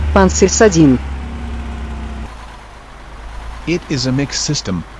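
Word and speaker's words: Панцирь-С2: The Pantsir system, NATO designated as SA-22 Greyhound, and which is pronounced in Russian as Pantsir S2.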